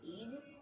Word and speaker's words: is: अभी मैंने बताया आई को ई पढ़ते हैं और एस को ज पढ़ते हैं, इज।